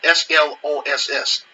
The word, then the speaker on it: Sloss: I'm going to have to spell it out. S-L-O-S-S. So it's like Sloss.